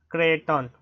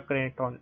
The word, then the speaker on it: Creighton: Okay, it's pronounced as Clinton. Clinton, okay, I'm pronouncing it wrong. Yeah, Clinton.